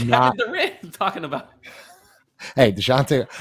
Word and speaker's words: Dejounte: Hey, DeJounte. I learned how to pronounce his name too. It's DeJounte Murray.